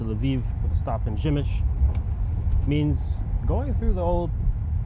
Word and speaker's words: Przemyśl: And by the way, the name of this town, Przemyśl, is only something that I'm able to pronounce after probably about 50 corrections. P-R-Z-E-M-Y-S with a little dot over it, L. If you're an English speaker, the chances of you thinking that the pronunciation would be Przemyśl are probably 0%.